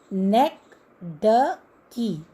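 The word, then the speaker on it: synecdoche: इसका प्रोनाउंसिएशन क्या है? नेक ड की. इसको 4 सिलेबल्स में हम डिवाइड करते हैं.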